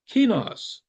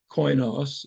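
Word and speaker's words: κοινός: But that's because the word is kinos, or koinos, if you use the Erasmian pronunciation.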